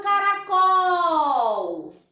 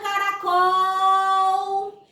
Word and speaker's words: caracol: Quando eu falo, ó, olha o caracol. Quem quer comprar o caracol? Qual é a sílaba? Isso mesmo, acertaram. É o col. Então, essa é a sílaba tônica da palavra.